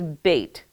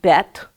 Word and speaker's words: bet: the next letter is bait it looks like bet but it's pronounced bait okay it's squared off